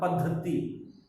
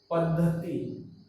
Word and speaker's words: पद्धति: थ फिर यह, पद्धति, कैसे वो इसका उच्चारण होता है, पद्धति, पद्धति, द में हल लगा है, आधा नहीं।